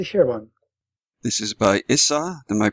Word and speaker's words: Issa: This is by Issa. Am I pronouncing his name?